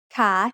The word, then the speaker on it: ขา: The initial consonant is ขอไข่ and it has the long vowel สระอา So once again, a high-class consonant with a live syllable ending results in a rising tone.